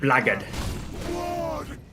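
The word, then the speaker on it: blackguard: Uh, if you want to be proper, if you want big proper, you pronounce it blackard.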